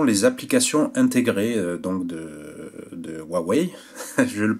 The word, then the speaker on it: Huawei: donc ce sont les applications intégrées donc de huawei je le prononce bien maintenant donc voilà c'est très old